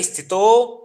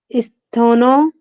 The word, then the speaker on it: स्थितो: तत्र स्थोनो यत्नो तत्र स्थितो अभ्यासः तत्र स्थितो यत्नोऽभ्यासः। तत्र स्थिनो यत्रो अभ्यासः। स्थिनो नहीं है, ता का उच्चारण है, आप थोड़ा सा गौर कीजिएगा, वहां पे ता लिखा हुआ है।